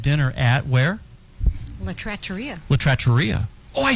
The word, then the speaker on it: La Trattoria: La Trattoria.